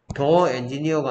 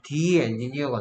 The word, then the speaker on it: the: 그다음에 더에 더가 있을 때도 더의 발음이 더 엔지니어가 아니고 디 엔지니어가 됩니다.